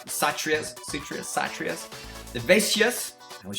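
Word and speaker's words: Kshatriya: the Brahman the sutrius I know it starts with the k k is silent satria's Citrus satrias vivacious I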